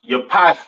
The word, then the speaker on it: Japheth: Next we have Japhet. All right, or Javeth. Some people like to call it. Right. Pronounced Yapath in Hebrew.